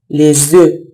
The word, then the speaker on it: œufs: Les œufs. Les œufs یعنی تخم مرغ. به حالت مفرد و جمعش دقت کنیم. در حالت جمع اف تلفظ نمیشه.